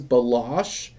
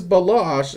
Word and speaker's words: Balash: No, it is Balash. It's just it's spelled this way, but it's pronounced this way.